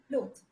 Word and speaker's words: loath: the meaning is different first is loath we we say it like clothe okay lord is an